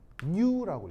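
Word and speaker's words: ν: 자, 읽을 때 뭐라고 읽냐면 new라고 읽어요. new라고 있습니다. 알겠죠? 그리스 알파벳이고요.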